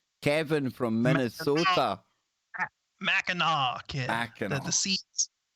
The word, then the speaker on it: Mackinac: Mackinac. The sea is silent.